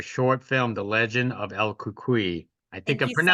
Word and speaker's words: El Cucuy: Cynthia, hey, congratulations on your short film, The Legend of El Cucuy. I think Thank I'm you so much.